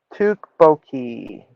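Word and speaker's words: 떡볶이: How do you pronounce Tteok? Baki. Tukboki.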